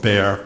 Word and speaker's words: Bexar: In 1981, I became chief medical examiner of Bexar County, Texas. And for the transcriber, Bexar is spelled B-E-X-A-R, the X is silent.